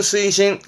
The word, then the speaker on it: 推進: 추진입니다 딱 외우기 쉽게 한자가 대표적으로 추진입니다 마음은 스이신 스이신 추진하다 스이신 좀 어렵다 이거는 천 자라